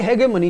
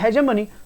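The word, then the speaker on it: hegemony: तो बेटा ये ए आ रहा है तो इसका मतलब ये ग का साउंड ले रहा है, ये हेगेमनी, जबकि इसका प्रोनाउंसिएशन है हेजेमनी, तो मतलब ये गलत हो गया।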